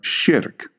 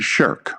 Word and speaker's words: shirk: You're going to hear the term shirk. Most people will pronounce it shirk, but it's properly pronounced shirk.